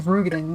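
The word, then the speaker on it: Roegadyn: I don't like that it's actually Rugadin. Like, it ruins the whole point. This is why we need a pronunciation guide.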